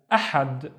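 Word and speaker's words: أحد: Now the first syllable is a, the second syllable is had. Had, ahad, which means Sunday.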